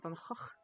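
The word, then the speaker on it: Van Gogh: That's why for example uh the famous painter Vincent Van Go it's in Dutch it's pronounced Vanhawk. So this is actually the correct way to say his his name because they don't have the G sound.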